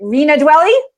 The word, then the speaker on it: Rena Dwelle: my gosh I hope I die off by pronouncing your name correctly re Rena dwelle yes Rena even though even though I get